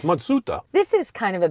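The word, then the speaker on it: Matsuda: it isn't even Mazda the real name is matsuta yep it's matsuta this is kind of a bit of an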